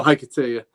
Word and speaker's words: Hiketeia: Chris says, love the book, can't pronounce it. What book is that? The Hiketeia? Oh, Hiketeia.